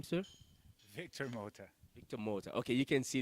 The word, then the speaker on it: Victor Mota: mouth by the name what's your name sir Victor motor motor okay you can see the way pronounce Victor motor it's like it's got a